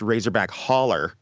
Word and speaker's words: Razorback Hollow: So it's actually pronounced Razorback Holler because the woman who plays Haggis the witch, which is funny on in itself, actually pronounces it that way because, people don't say words properly, I guess.